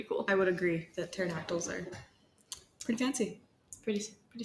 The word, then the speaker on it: pterodactyl: would have to say a pterodactyl is it because of the silent P that is a very